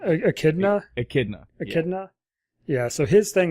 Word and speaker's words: echidna: So Knuckles is what's the proper pronunciation? Echidna? Echidna.